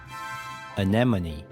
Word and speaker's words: anemone: The key to pronouncing this word correctly is to remember that the stress is on the second syllable.